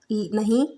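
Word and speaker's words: know: के एन ओ डब्ल्यू इसको क्या बोलेंगे Now नहीं इसको क्यों नहीं बोलेंगे इसको बोलेंगे नो यहां पर के साइलेंट है मतलब हफ्ते का प्रनंसीएशन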